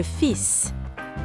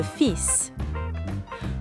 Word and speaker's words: fils: Notice that unlike most French words where we don't pronounce the last letter in a word, here we pronounce the S. Le fils. Le fils.